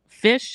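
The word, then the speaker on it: Phish: It's fish food. And fish is spelled P H I S H, not F I S H.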